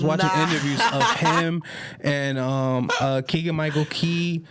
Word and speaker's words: Keegan-Michael Key: Keegan-Michael Key. Keegan-Michael Keegan.